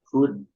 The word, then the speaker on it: could: could Ya, could. Could could I atau have? bacaannya apa cara bilangnya itu Bacanya could could. atau Could. could. Ya, could I. Jadi L-nya itu nggak kebaca.